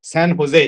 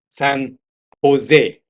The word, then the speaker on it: San Jose: San Jose is, by the way, it's a Spanish name. San Jose. It should be pronounced San Jose.